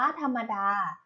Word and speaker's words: ธรรมดา: นะ คะ คำ ว่า ธรรมดา ธรรมดา อ่าน ว่า ธรรมดา ธรรมดา ประกอบ ไป ด้วย ทอทง รอ หัน มอ